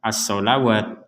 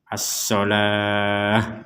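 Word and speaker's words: الصلاة: Jadi di sini jangan dibaca as-sholawat. Nah, walaupun tulisannya di sini ada huruf waw, ini masuknya kepada ilmu penulisan ayat Al-Quran. Tapi cara membacanya tetap as-sholah, begitu.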